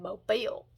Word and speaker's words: Mobile: You said Mobile, so you have to be from there."